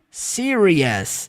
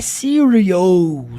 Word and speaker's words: serious: entender a pronúncia então Serious não é Sirio preste atenção na fala